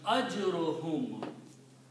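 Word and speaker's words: أَجْرُهُمْ: Ajrun and hum, if you will combine these two, one dhamma is not pronounced and it becomes ajruhum.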